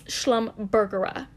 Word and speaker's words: Schlumbergera: i said it wrong it's schlum burger schlumberger like hamburger hamburger yeah um yeah not schlumberger i guess that's a it's an oil company schlumbergera that's what it is